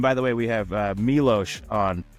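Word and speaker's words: Miloš: And by the way, we have Milos on not Milos for the people who have a tendency to mispronounce it.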